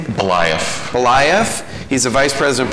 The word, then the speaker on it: Beliaeff: Beliaeff.